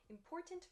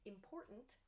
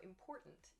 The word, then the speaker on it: important: of the word but native speakers don't pronounce the t sound clearly like i just did instead we say important written mountain this has like an apostrophe sound almost so important important important we drop